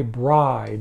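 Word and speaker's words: Bryde: one out the next album up is by bride that's spelled b-r-y-d-e this is a great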